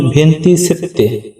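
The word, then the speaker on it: ventisette: পরে রয়েছে 27 27 27 এর ইতালি উচ্চারণ ভেন্তি সেত্তে ভেন্তি সেত্তে মানে 27 তারপরে রয়েছে 28 28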